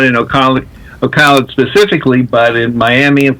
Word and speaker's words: Ocala: Are you familiar with Ocala? You said it right. Most people who are not from here say it differently, like Ocala or something.